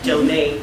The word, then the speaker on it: Joane: It's JOANE Deanna, DEANNA. Because it's spelled like Joanne, so everybody confused, but it's Joanne Deanna.